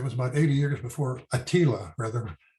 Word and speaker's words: Attila: By the time Attila, it was about 80 years before Attila, rather correct pronunciation, Attila the Hun led his armies all